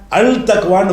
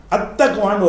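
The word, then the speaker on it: التقوى: என்று தக்குவான்னு எழுதி இருக்கிறேன் தக்குவா அல் போட்டவுடனே அல் தக்வான்னு வராது அத்தக்வான்னு வந்துரும் இந்த லாம் காலியாகி போயிரும் லாம் லாம் வந்து இருக்கும்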